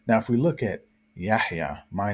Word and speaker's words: Yahya: For example, some people pronounce my name as Yahya, or some people may say Yahya, just totally skip over the ha sound, but the correct pronunciation is Yahya.